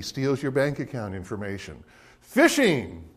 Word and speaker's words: phishing: your bank account information fishing that word pronounced fishing it is an attempt